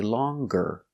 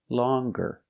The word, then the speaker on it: longer: pronounce the G sound when you change an adjective or a description with e r pronounce the G so long we don't say more long we say longer longer this river is longer